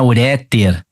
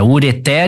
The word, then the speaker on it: ureter: tudo aqui eu tô colocando a a a sílaba tônica em posição adversa e na letra é também não é uréter assim como não é catéter é ureter e cateter beleza e Lógico né na letra